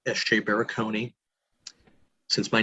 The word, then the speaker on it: Barakony: under my name sj baraconi since my name is that unique uh sj being my name not initials and baraconi being a four syllable phonetic hungarian last name easy to find me